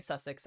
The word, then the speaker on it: Sussex: Is it Sussex, Jackie? Okay, Sussex.